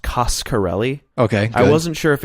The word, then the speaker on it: Coscarelli: thing I learned for sure is that it's pronounced coscarelli okay I wasn't sure if it was Casa le or Costco le so I was glad he clued us in